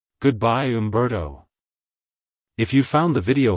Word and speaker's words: Humberto: the hoop sound at the beginning followed by a clear bear and toe at the end avoid softening the bar sound in the middle like hello Umberto goodbye Umberto if you found the